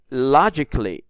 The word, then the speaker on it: logically: is in red but we don't pronounce it we don't read it like Lo G catly we rate it like logically so the a is silent the second word climb